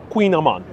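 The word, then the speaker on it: kouign-amann: yeah queen amman because the queen is is pronounced queen but spelled with the k and is that snack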